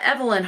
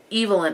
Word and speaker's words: Evelyn: saying it correctly so it's not evelyn hardcastle it's evil in hardcastle according to the narrator and i'm assuming the